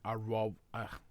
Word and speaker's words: au revoir: Au revoir.